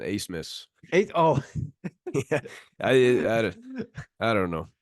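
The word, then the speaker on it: Abmas: a what a miss the the B and the m is silent Ace miss a oh I don't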